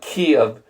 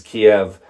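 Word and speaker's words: Kyiv: say it right but KV is the closer pronunciation versus Kiev which is the Russian which obviously nobody wants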